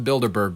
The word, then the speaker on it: Bilderberg: Homeless guy just going off about the Bilderberger group. Going on the He mispronounced the Bilderberg group.